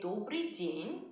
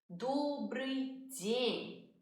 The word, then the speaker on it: Добрый день: We say Добрый день in the afternoon. Добрый день.